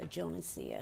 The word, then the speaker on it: Jonesia: It's Jonesia. Okay. Can you spell that for our court reporter?